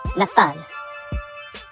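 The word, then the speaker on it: נתן: In Hebrew, it is the word Nathan. Now remember, Hebrew's read from right to left. Nathan is spelled Nun, Ta, Nun.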